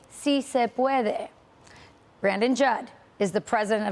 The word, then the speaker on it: si se puede: If you're going to pander, at least learn how to pronounce the words. It's si se puede.